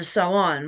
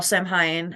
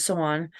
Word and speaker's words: Samhain: For Sawan, which other people call Samhain, the proper terminology is Sawan.